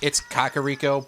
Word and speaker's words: Kakariko: And yeah, technically it's Kakariko, but I've been pronouncing it as Cack for however long.